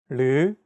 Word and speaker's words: 르: This sound is actually somewhere between an L and an R sound. When pronouncing this sound, your tongue should strike the gum ridge behind your upper teeth in a quick, rapid motion.